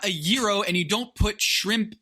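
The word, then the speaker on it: gyro: Okay, it's not a jiro, it's a euro and the g is silent.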